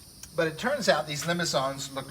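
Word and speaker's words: limaçon: There's these limicons. That's a French word, and that's a little accent or cedilla, I think they call it, underneath the C. I think it makes it a soft C.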